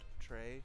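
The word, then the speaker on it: très: you can use uh Tres be pronounced Trey oh my bad you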